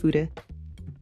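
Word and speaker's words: 筆: It's a Japanese word. It's pronounced fude.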